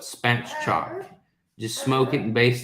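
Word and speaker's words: spatchcock: so so good um it's pronounced the way it's spelled spat chalk just smoke it and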